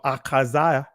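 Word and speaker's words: Ahaziah: Uzziah, in other words, Akaziah or Akaziah, that's how you pronounce it in ancient Hebrew.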